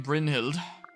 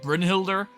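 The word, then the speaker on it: Brynhildr: like to do regarding Brin hild I think that's how it's pronounced right I always us to say like Brin Hilder but I don't think that you say the r yes I have but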